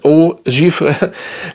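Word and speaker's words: Eau Givrée: ist, weil an diesen Eau Givre, wenn richtig ausgesprochen, Eau Givre, kommt auch der nicht ran.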